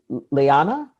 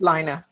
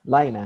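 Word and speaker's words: Laina: to pick the next slot yes Rihanna Leah Liana way to pronounce it it's liner liner its liner yeah thank you yes thank you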